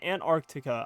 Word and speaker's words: Antarctica: I don't know man do you even pronounce that first SE Antarctica I guess you do but it's really it's a hidden it's a hidden pronunciation Australia by the way